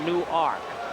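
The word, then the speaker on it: Newark: ark any W arkade like nework New Jersey except they pronounce it new ark infield in and Andy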